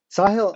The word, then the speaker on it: Sahil: will never forget that word again or the pronunciation sahill um um squash is that game that people